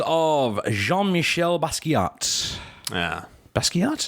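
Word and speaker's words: Basquiat: Jean Michelle basat yeah basat is how you say the artist basat basat I'm the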